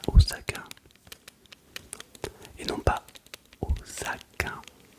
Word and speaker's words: Osaka: Il est possible que je l'ai acheté à Osakain et non pas Osakain. On dit bien Osaka parce que le S se prononce et le Z.